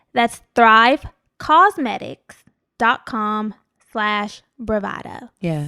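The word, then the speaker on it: Thrive Causemetics: off listen to me it's spelled a little differently yes it's cos like a cause for a good cause that's thrive cosmetics dot com slash bravado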